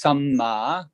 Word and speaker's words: samma: One is samma and one is sama. They've only got one vowel. And that's why it's really important when you do pronounce Pali, sometimes to avoid misunderstanding, you accent perhaps the vowel or not, or if it's a double consonant, you pronounce it, because otherwise there can be a lot of misunderstanding.